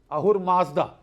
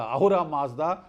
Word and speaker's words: Ahura Mazda: In Iranian, in Persian, you don't pronounce the S, you pronounce it as H.